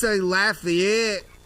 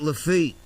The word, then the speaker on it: Lafayette: Have you ever been to like we say Lafayette, not Lafitte. Yeah. Yeah. We say that'd be Lafayette. Well, I would pronounce it Lafayette, but yes, I have.